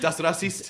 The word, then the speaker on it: Das Racist: Das Racist.